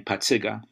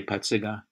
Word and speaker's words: Pacyga: I grew up in back of the yards and I pronounced my last name Pacyga, and everybody in the back of the yards, even the Mexican and Irish kids could say Pacyga.